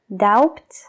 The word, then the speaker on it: doubt: pronunciarlas la palabra duda Cómo se dice doubt no doubt es como out de fuera out pero con la al principio I hads about on